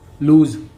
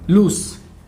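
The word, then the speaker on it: loose: ठीक है, इसमें जेड वाला साउंड वो आता है, लूज। इसका लूज, इसमें से वाला आता है, लूस, है नहीं? बल्कि हम डे टू डे भाषा में तो यही बोलते हैं कि वायर लूज हो गया, है नहीं? लेकिन इसका सही प्रोनाउंसिएशन एस होता है, से वाला भाव आता है इसमें।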